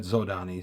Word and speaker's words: Zhodani: We've always said Zhodani long before I encountered the Zhodani pronunciation. We said zodani, so that's what it is for us.